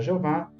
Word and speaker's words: Jeová: trazendo o nome divino consta como jehova ou na nossa língua a gente vai pronunciar Jeová em alemão Jeová enfim